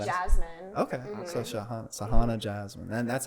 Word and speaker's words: Shaghana: No, it's Shaghana.